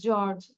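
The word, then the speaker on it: George: you hungry তাহলে কি হবে হাউ ইজ জর্জ উচ্চারণটা হবে জর্জ জে ই ও আর জি ই জর্জ হাউ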